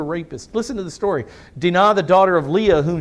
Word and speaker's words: Dinah: Dinah, if you want to, but the Hebrews would pronounce it Dinah.